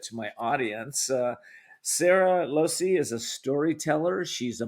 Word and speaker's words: Lohse: say your last name I'm M Losi Losi yeah so the H is silent Losi okay alrighty so Sarah's